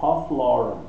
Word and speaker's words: Ralph Lauren: Então eu acho que pronuncia Ralph Lauren. Mas se for em inglês, aí é Ralph, né? Mas eu acho que não, eu acho que é Ralph Lauren.